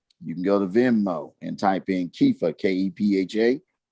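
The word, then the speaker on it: Kepha: Kefa is spelled K-E-P-H-A.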